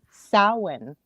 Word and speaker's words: Samhain: your knowledge base i finally learned how to pronounce this properly samhain where does that come from it's actually gaelic